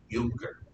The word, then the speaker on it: Junker: he is a prussian younger it's spelled junker but and when i